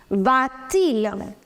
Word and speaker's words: va-t-il: Va ends with a vowel, which is a. Il begins with a vowel, which is I. So you will put T in between. Va-t-il. You have to pronounce that.